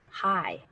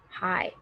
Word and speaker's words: high: above right not low high high and the g is silent we don't say the g and the last one